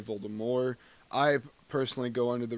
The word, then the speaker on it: Voldemort: Voldemort pronunciation just is a simple thing about how do you actually say Voldemort's name. Some people put a hard T at the end, so it'd be Voldemort. Some people say Voldemort.